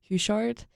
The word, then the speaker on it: Houchard: today I'm sitting here with Josie Houchard. I hope I pronounced it right.